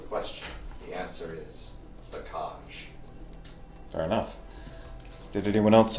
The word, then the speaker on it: Kaj: The Kaj. Kaj. How do you spell it? K-A-J.